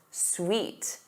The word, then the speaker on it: suit: Oot, oo, oot. Suit, suit.